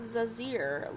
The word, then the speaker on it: Zazir: It's Professor Zazir, like laser with a Z.